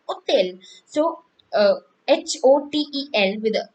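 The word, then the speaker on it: hôtel: also some they're like hotel or loge and omo and if i have open hotel world like in the uh english we have hotel and in french we say hotel so uh h-o-t-e-l with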